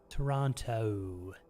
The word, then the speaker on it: Toronto: And one of the things was like if a word ends in O, it's like O, O, Toronto, Toronto, like that. You do a long O that ends in a W sound.